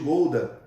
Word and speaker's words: Gouda: não é um é diferente a pronúncia não é gorda que nem a gente fala e o queijo gouda eles assim como grelhar